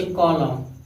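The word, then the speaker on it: column: इसे देखिए डैम, डी ए यम यन साथ में है, यन साइलेंट हो गया, डैम पढ़ेंगे, क्या पढ़ेंगे डैम। इसे कॉलम, यम यन साथ में है, इसे क्या पढ़ेंगे कॉलम पढ़ेंगे।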